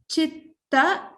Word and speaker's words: चित्त: Hridaye chitta. Again, it's a double ta, so you have to stress on the chitta.